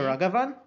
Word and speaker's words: Ragavan: But some pronounce it with that A as more of a U sound. Okay. So Ragavan. But Ragavan? But no one pronounces it like with an A that sounds like a rag.